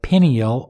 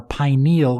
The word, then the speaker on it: pineal: how to decalcify your pineal or pineal gland it's pronounced both ways so I'll pronounce it both ways through this podcast now look in your